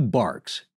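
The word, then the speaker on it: barque: organized consisted of two barks and that's b-a-r-q-u-e-s or or like bark like a bark of a tree or a dog and these are sailing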